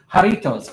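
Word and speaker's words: Jarritos: Is it Haritos or is it Jaritoss? Oh, there we go. So, that'll help with the balm. Haritos. Okay, good.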